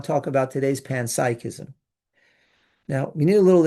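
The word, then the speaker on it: panpsychism: It's pronounced pansychism.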